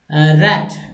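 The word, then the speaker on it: wrath: रैथ, रैथ डब्ल्यू का उच्चारण नहीं होगा, साइलेंट है, और इसका मतलब रैथ, रैथ का उच्चारण होता है अति क्रोध, बहुत गुस्सा वाला हो जाता है।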